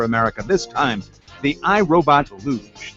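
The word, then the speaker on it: Looj: this time the irobot luge they spell it l-o-o-j it's not an olympic event we didn't want all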